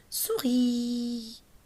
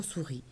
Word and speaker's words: souris: Regardez le mot souris. Ça commence par S, ça se termine par S. Oui ou non? Le dernier S, on ne le prononce pas.